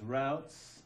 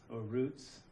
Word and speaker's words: routes: so so this is routes Roots depending on how you pronounce it I say routes of administration there's two